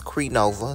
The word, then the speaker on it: Crenova: plastic on the course yeah and I did pronounce it right it's cre Nova so yeah that was right comment down below